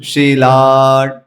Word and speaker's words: शिला: शिला शिला है, लेकिन लोग शिला टंका न खालय, तो शिला है, ला जो दीर्घ है उसको हमें लॉन्ग खींचना है, उसकी जगह पे शी को लंबा खींच लेते हैं।